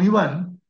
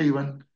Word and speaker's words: Ivan: en la aparición con Iván Ivan se pronuncia Ivan eh la virgencita oró